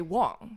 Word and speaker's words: Wang: in America pronounce it Wang. So it's very very common. So is Wang not a surname? Like the pronunciation is a surname. It's just in in Chinese we say Wong.